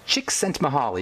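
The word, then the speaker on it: Csikszentmihalyi: h a l y i his name is pronounced chick sent mahali he's the University of Chicago professor and he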